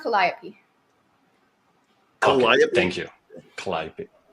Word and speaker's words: Calliope: It's pronounced Calliope.